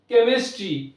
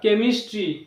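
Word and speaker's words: chemistry: School, কেমিস্ট্রি, সিএইচ দিয়ে start, কেমিস্ট্রি, chemical, stomach. তো এরকম কিছু শব্দ রয়েছে যেখানে সিএইচ কয়ের উচ্চারণ হয়, সেই শব্দগুলোকে আমাদের মুখস্থ করে মনে রাখতে হবে।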